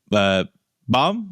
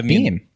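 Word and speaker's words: Bheem: Ram and another named Bomb. Is that how you pronounce it? I think it was Beam. Beam. Oh, sorry, Beam. My bad.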